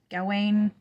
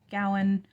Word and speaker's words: Gawain: Gawain, Gowan, the pronunciation varies.